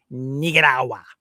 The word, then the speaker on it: Nicaragua: And so, yeah, it's it's important to pronounce it properly. It's uh it's definitely pronounced Nigarawa just like Sumana and you got the Rolex Sumanna.